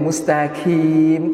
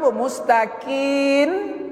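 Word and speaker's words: مستقيم: digantinya dengan noona duwe mustaqin eh Bu mustaqin dengan Mun dibacanya itu berubah mananya Kalau mustaqim rapat bibir ih merapat bibir nya bibir atas bibir bawah rapat natural ya Nah kemudian Bapak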